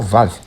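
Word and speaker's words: ו: alfabeto hebraico é o vá o vá ele é o equivalente ao V da nossa língua e nós podemos então pronunciá-lo assim como V mesmo em alguns casos ele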